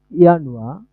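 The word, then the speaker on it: Januar: এই, এটার হচ্ছে ডয়েশ উচ্চারণ হবে ইয়ানুয়া, ফেব্রুয়ার, মার্চ, এপ্রিল।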